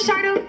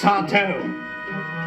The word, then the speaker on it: Sardo: Sardo? That's Sardo. No, mister. Accent on the toe.